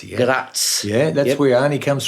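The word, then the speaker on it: Graz: now you're from um see if I could pronounce this properly grass Gratz yeah Gratz yeah that's where an comes from I was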